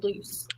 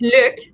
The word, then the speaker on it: Luc: her meetings okay well first off do you pronounce his name luke or loose apparently it is luke i have said it loose literally this whole